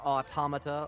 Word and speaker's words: Automata: and PC video game near automata or auto Mata depending on who you ask on pronunciation I also play mikazuki